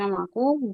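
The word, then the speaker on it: whom: में कंफ्यूजन है सर हमको वम बोल रहे है ना डब्ल्यू एच ओ M boom हुम हुम पढ़ेंगे बाबू होम हां हां से होम जी right sir होम होम होम होम होम okay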